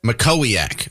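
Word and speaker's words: Mackowiak: Makoak, that's how you say that. Yeah, a lot of a lot of affairs lately, right? Or alleged affairs. So Matt Matt Yes, sir. Matt Makoak is the comm's director for Senator Porn's campaign.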